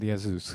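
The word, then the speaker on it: Jesús: It's JJ, DJ Tool, Naim in the middle, and Jesus here. Am I pronouncing it right? Yes. Yeah. Yazos, yes.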